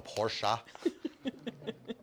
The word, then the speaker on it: Porsche: uh Porsche yeah por Germans would be so mad if I say it wrong it's a Porsche um well um